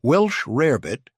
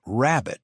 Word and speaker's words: rarebit: Welsh rarebit, often mispronounced as rabbit, was originally a British dish.